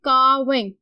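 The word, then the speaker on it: calving: हमें पता है कि L जो है इसमें साइलेंट है, तो हम इसको पढ़ेंगे carving।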